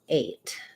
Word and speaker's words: eight: watch this is that i'm never gonna drop the t entirely so if they're hearing